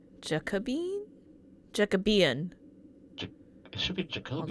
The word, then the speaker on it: Jacobean: How to pronounce Jacobean? Jacobean. It should be Hold Jacobian. on. Jacobean. Jacobean. Eh? Jacobean. That's how you pronounce that, apparently. I... In any case, It's not Jacobine.